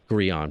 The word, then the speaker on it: Grean: the way ladies and gentlemen uh am I pronouncing your last name right first of all before we even yeah that's perfect gon Perfect all right because I'm I think I